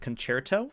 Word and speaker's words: Dexerto: Concerto is pronounced concerto.